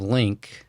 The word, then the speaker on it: Lynk: thanks Scott um so I'm the CEO of link and that's spelled l-y-n-k and those of you listening can